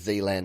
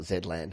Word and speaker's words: Zealand: It sounds like Zealand. Maybe you should drop the two Zs. All right. And I'm assuming it's Zealand, not Zland. I know I'm Australian. We say our Zs a Z. But Zealand.